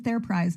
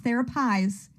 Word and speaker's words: Therapise: I was about to call it Starship Theraprize, which is how everybody mispronounces it, but it's Therapies, just like the Enterprise.